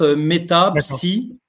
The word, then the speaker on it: Metapsi: Euh comme ça se prononce mettapsi hein euhfr.